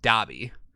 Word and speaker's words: Dobby: i've always said dobby it is spelt dobby not dolby like the sound system d-o-b-y it's still dobby like it's always pronounced dobby so far we have